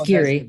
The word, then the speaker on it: Giere: What is Greer Associates? I'm probably destroying your last name. Okay, well, it's Geary, but that's okay.